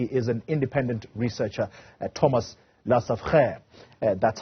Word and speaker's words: Lesaffre: He is an independent researcher, Thomas Lesaffre. That's how you pronounce